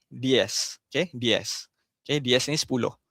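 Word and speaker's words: diez: Okey di ni nampak eh ada z ni dia bukan diz diz bukan di macam S.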